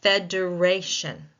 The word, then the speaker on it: federation: So let's look at federation. Federation second to last syllable that syllable that pro precedes the shin takes the stress.